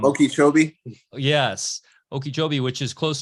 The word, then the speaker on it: Okeechobee: I always pronounce the name of that town wrong there in Florida. Okeechobee.